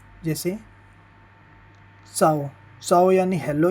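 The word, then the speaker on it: ciao: यानी बेग बेने बेने यानी अच्छा अब इसका उच्चारण होता है भाई ची जैसे चाओ चाओ यानी हेलो या बाय काजा काजा यानी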